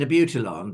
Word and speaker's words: Abutilon: And so she said, I want an Abutilon. And I said, I think you mean Abutilon.